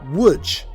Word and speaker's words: Łódź: Although it's spelt Lodz, it's actually pronounced Łódź.